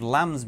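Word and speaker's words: 林: For example, Lin, which means forest, is pronounced Lam.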